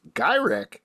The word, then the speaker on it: Gyrich: down Boulevard tras and Henry gyri is apparently how you pronounce his name by another another big